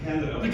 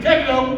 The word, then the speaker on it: DiCandido: On some occasions like this, I have to say one very important thing, which is that it's pronounced DiCandido. DiCandido!